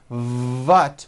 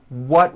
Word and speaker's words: what: The reason I mention this is because many foreign speakers, especially German speakers, say, for example, phat with a V for the word what. Instead of saying, what will we do, which is correct, they may say, what will we do?